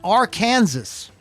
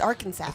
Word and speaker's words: Arkansas: the highway patrol uh in our kansas charges it's arkansas arkansas pronounce it right please on charges of reckless